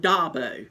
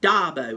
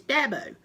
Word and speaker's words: Dabo: then they call him da boy his name's not Dabo especially last week that was annoying espejo it's Deb oh it's Deborah there is a pronunciation to it Dabo hey Scott good to